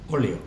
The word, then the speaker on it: óleo: Fíjate que esa palabra, ¿cómo es, Carlota? Esdrújula. Fíjate que es una palabra muy cortita, pero tiene tres sílabas. Es una palabra súper corta, pero tiene tres sílabas. Y en este caso, la sílaba tónica es la primera letra, que va sola en su sílaba.